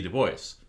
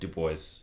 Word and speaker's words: Du Bois: from harvard after w.b du bois which he pronounced his last name to voice i always have to remind myself because i want to read it as dubois but he pronounced it two boys so b du bois